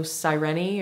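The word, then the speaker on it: Sireni: it's called serenity beauty it's spelled like siren but with an eye at the end so cyreni or serenity beauty it sounds like something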